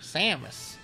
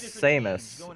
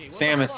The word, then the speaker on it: Samus: God Samus you know when I first saw that character I always pronounce ounc it as seus mostly because of Sam Samos the sage in Jack and Daxter I I pronounce it as Samus Samus I mean that's always how I used to pronounce it but now that well